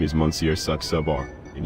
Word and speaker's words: Saxabar: My name is Monsieur Saxabar, and you pronounce it just as it looks, darling.